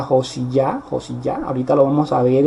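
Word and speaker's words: יאשיה: Y pues en este caso vemos cómo Josías celebra, Josías, que en hebreo se pronuncia Josiyah.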